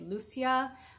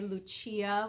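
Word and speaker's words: Lúcia: for me to say Lucia that's the Portuguese way to pronounce the name but it I really want to say Lucia which is the Italian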